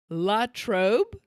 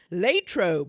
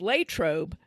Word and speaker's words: Latrobe: this so it looks like it should be L trob that's how I always thought it R but it's Latrobe I always thought that Versa was pronounced Versa